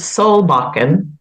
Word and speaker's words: Solbakken: And I'm not sure, how do you pronounce the name of that one? It's Solbakken. Okay. Which is a Norwegian name. And what is that one about? Solbakken.